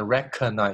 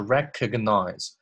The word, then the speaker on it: recognize: 第三部分。Machine learning can recognize 这个 G 不要读成了 recognize，是 recognize patterns of 前后的那一起 patterns of neural activity.